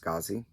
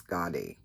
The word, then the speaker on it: Skadi: Okay, so somebody told me that this was pronounced Skazi, but my Norwegian friend Rita Marie said it's Skadi.